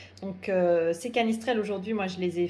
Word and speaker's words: canistrelli: recette des canisses trail canistrelli prononcé qu'à mistral par les corses puisque c'est une recette qui vient de corse donc c'est cali ce trail aujourd'hui moi je les